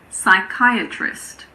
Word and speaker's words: psychiatrist: Well, we don't pronounce P if it comes at the beginning of a word before an S. For example, pseudoscience, psychiatrist, psychic, psychology. It's also silent in front